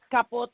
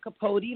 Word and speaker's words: Capote: It's Capote in Spanish. A lot of people say Capote, like Truman. It's spelled the same way. Yes. But it's Melody Capote.